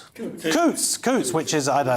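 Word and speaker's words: Coutts: In one of the most notorious cases, reform UK leader Nigel Farage was dropped by Couts Couts Coots Coots, which is I don't know, that's far too rich for me.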